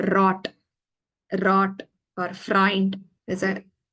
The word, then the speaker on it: rot: for this and um relax the tongue more of a rolling sound than the English R okay you need to